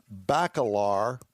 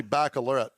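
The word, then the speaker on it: Bacalar: Balar has got to be pronounc pronounced different than what you're saying. Probably Balor. But at any rate, there it is right there. The Bentley Balar. B- A C A L A R.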